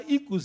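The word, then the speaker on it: οἶκος: Que se escreve oikos, mas se fala ikos em grego clássico.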